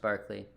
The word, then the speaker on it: Berkeley: It's Berkeley, like Berkeley Allison's name, or Berkeley, California, but it's pronounced Barclay.